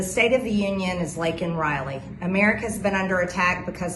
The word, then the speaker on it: Laken Riley: And of course, conveniently, the girl's name's Laken Riley. Conveniently, Biden doesn't even know the girl's name. He bumbles on the stage. He calls her Lincoln Riley, who is a football coach at the College of USC, college football.